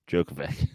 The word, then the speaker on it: Djokovic: joke of it no the D silent Djokovic Novak Djokovic oh you're like digit Djokovic did I try to combine jokic yeah how's it pronounced Djokovic okay well you'll learn